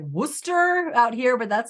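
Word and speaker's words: Worcester: no that's that's an I was thinking of like Worchester but it's like Wooster out here but that's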